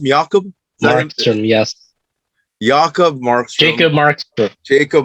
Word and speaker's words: Jakob: somebody out uh tutorial jakob markstrom's always pronounced miyakob yes jakob marks jacob